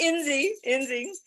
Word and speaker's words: Inzi: And I've actually, that's how we pronounce it in my family. I don't even know how you spell that, because we would just say Dr. Inzi, but it's Inzi.